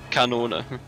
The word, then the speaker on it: Kanone: Kanone is just cannon. Kanona? Kanone. Kanona. Spelled the same way, just with a K instead of C and with an E at the end.